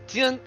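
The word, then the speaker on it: 剑: This is pronounced the Jian. It's pronounced technically DZ and then Ian.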